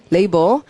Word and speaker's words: label: 자, mand의 뜻이 여러분 잘 아는 명령하다라는 동사 command에서 온 mand고, 그래서 mandatory가 의무로 labeling, 라벨이라고 읽지 않고 소리 label.